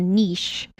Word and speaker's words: niche: should you specialize and find a niche is the correct way of pronouncing it ah should you find a niche and so that and